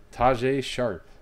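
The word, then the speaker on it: Tajaé Sharpe: think no one knows Taj a sharp that's how you officially pronounce his name Taj a sharp Aaron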